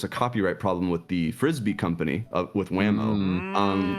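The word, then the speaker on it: Frisby: uh dashing put in the chat that it's pronounced mrs frisbee and i thought it was brisby this is another thing guys i'm a fountain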